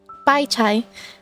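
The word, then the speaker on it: 白菜: is like is it bai sai? I don't know how to pronounce... How do I pronounce the C? Bai chai? Is it pronounced chai? Because I know written wise it's C-A-I. Bai chai.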